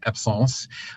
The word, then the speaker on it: absence: There are others, but absence seizures, or that's a French word, it actually is pronounced absence.